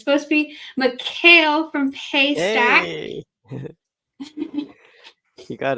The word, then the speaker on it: Mechiel: PMPro team, and I'm going to try to pronounce it the way it's supposed to be, Mecheil from Paystack.